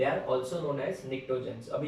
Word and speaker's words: pnictogens: अगर हम लोग बात करें ग्रुप नंबर 15 की, तो इनको निक्टोजेंस भी बोलते हैं, P silent, निक्टोजेंस, इट्स a Greek word.